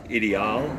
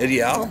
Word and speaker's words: Ideal: All right, is it IDL or IDL? How do you pronounce that? You know? I pronounce it Ideal. Ideal, okay. Well, it's a new old stock Ideal Model 92 from the early 1970s.